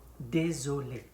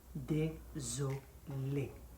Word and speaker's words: désolé: Désolé. Désolé. This is accent aigu on the two letters, on the two-letter E in that word.